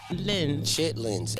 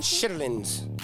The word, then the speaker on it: chitlins: Chitlins. And now it's chitlins. Chitlins. Yeah. What did I say? I said it wrong. Shitlins.